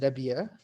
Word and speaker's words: Rabia: hello my name is rabia it's very hard to say my name in english with a harsh h at the end and i'm a clinician